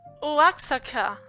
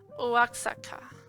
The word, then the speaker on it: Oaxaca: Oh, the grasshoppers, they sell them fried with chili and lemon in Oaxaca. I think I pronounced that wrong. Oaxaca.